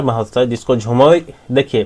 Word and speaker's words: झूमर: असम के कई सारे वर्ड्स जो है बंगाली से इन्फ्लुएंस्ड हैं। इसके कारण जो है ये झूमर को झुमोर कहा गया।